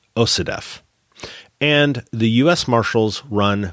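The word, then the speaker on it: OCDETF: The DEA runs Organized Crime Drug Enforcement Task Forces, which, when abbreviated, because that's a mouthful of letters, is pronounced OCDEF.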